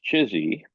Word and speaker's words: CHSI: Collective human superintelligence with the acronym chsi which some of us lovingly pronounced chizy and it uh at